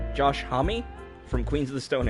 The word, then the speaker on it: Homme: this one is performed by his name is pronounced Josh Homme II from Queens of the Stone Age so that's